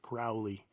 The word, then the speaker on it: Crowley: people pronounce it aleister crowley but i i will say that there is an argument out there that it's pronounced crowley like as in the bird the crow alistair crowley that's besides